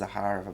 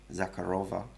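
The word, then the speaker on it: Захарова: that maria zaharava and it's pronounced zaharava by the way not zakharova it's zaharava um she said they're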